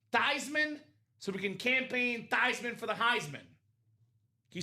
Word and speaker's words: Theismann: It's actually pronounced Theismann. It's a German name.